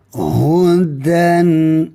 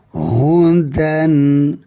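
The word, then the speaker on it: هُدًى: Hudan itu cara bacaan da bagi dua di atas ya. Hudan.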